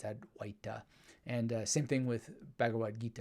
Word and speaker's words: Advaita: from my sanskrit studies Advaita is how most people call it but actually it's had white and same thing with